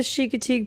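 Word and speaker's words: Chincoteague: Look up le Look up the chicatig pony swim in the United States. It's not spelled how you think. It's spelled c h i n c o t a g e.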